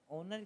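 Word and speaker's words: honour: ऑनर की जब आप पढ़ते हो इसमें एच साइलेंट है तो ओ पढ़ते हो आप हिंदी में अगर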